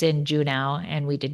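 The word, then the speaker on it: Juneau: Is it Juno? Is that how you pronounce it? Is that not how you pronounce it? I don't know. I think I always thought it was Uno. Uno. Uno. But obviously it's not.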